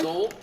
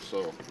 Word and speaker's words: Seoul: It's pronounced soul. I'm like, It's really? pronounced soul. Soul, yeah. S-O-U-L. Like it's pronounced like S-O-U-L. Yeah, Seoul.